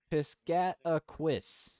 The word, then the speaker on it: Piscataquis: Piscatacus? Piscataquis might be it. Something like that, maybe. I don't know. How to pronounce Piscataquis? Piscataquis.